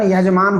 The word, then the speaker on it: यजमान: है कामचलाऊ भाषा में का शुद्ध उच्चारण यजमान होता है आज भी उन बोल तू बोल चाल की भाषा को जजमान बोल देते हैं तो दूसरा यह मानिए